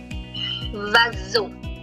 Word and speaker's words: oiseau: You know that OI in French has a wa sound. Wa. S sounds like z. Z. Oui, Ramesh. Perfect. And EAU has a O sound. So the pronunciation is vazo.